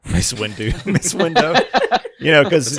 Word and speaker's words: Mace Windu: Mace Window. Mace Windu, Mace Windu.